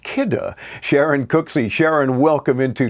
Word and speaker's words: Kidde: might always pronounce as kitty because it's k-i-d-d-e you say oh i've seen that name i have those products but it's pronounced kidder sharon cooksy sharon welcome